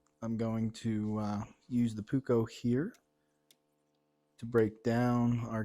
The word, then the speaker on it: Puukko: Or in Finland, it's actually pronounced Puukko. Puukko. But I'm not in Finland. I'm in central Pennsylvania in the middle of nowhere, so I will speak American and call it the Puukko, but I do like both pronunciations, and it's